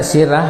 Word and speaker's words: Sirah: Ya, ini ditulisnya sirah ya, tapi dibacanya sirah ya. Ya, dibacanya sirah di dalam bahasa Arab.